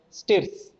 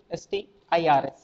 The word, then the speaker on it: str: So Python programs can also have text value called as string or strs, pronounced as stirs. Stirs, okay, pronounced as stirs, but strs, string it is.